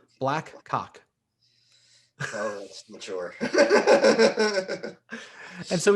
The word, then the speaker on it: BLAQCOQ: name of our band, I'm going to spell it first before I say it so I don't get in trouble. It was spelled BLAQCOQ. BLAQCOQ. Black Cock.